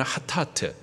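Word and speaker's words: חטאת: 이 속죄제를 히브리식 발음으로 말하면 하타트, 죄를 말하고요, 죄를 용서받기 위한 제사, 그것이 속죄죄예요.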